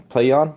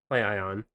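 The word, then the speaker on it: PLAION: Playon. Playon. P L A I O N. Playion.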